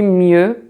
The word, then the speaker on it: mieux: So you see mieux, you don't pronounce the X, so the X.